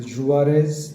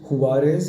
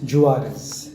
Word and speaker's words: Juarez: So Juarez, that's how it's pronounced. I was thinking it's pronounced Juarez as in the Mexican style or Mexican style, but no, it's pronounced Juarez with a stress on the R.